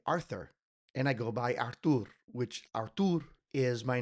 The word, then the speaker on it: Artur: é Artur," is because if a Brazilian tries to pronounce the word Artie, it comes out Archie.